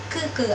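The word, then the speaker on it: 哥: Untuk G itu dibacanya seperti K biasa, kayak kucing, kerbau, dan lain-lain. Di contoh di sini tuh ada ke artinya kakak laki-laki. Jadi dia non aspirasi. Ke. Nah, dia nggak gerak, itu artinya dia nggak aspirasi.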